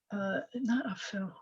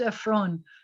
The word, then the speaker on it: Ephron: His name is not Aphel. What's his name? And Ephron. His name is Ephron, which means like the dusty one, like ashes to ashes, dust to dust, kind of.